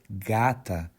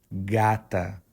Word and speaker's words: gata: pronounce the Brazilian Portuguese word Gat the correct pronunciation is gat once again gatu but for female cats it would be Gata again Gata if you check the title of